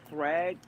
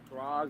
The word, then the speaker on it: Thrag: they if they do thrag throg whatever because I've heard say throg I've heard Americans say thrag I thought it was